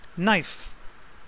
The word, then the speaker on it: knife: vowel an honest man knife k silent n is a consonant or knife psychology professor be silent